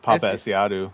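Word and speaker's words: Paapa Essiedu: Papa Esiadu. Is that it? That's how Steph says it. Papa Esiadu.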